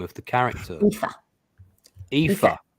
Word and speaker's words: Aoife: Aoife. It's like Eva with an F.